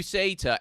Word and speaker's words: Uceta: What we're referring to, everybody, is we got, how do you even pronounce his name? Oh yeah, I got it here. It's Uceta. Okay, yeah. Uceta.